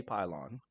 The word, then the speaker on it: Pilon: A lot of people get my name mixed up. To say Pilon, Pilon. It's just for the American pronunciation. It's just Pylon.